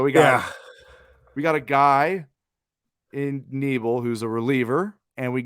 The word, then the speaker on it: Knebel: We got Corey Knebel, yeah, just Knebel, like with a silent K.